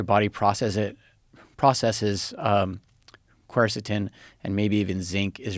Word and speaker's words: quercetin: vitamin d zinc quercetin so how do you pronounce that quercetin yeah um i take um what is the